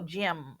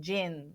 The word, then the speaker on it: gym: Ela está pronunciando o som do G adequadamente, o som individual, ela está pronunciando o M no final de gym. Bilabial, gym, ou ela está nasalizando, gin, que é outra palavra.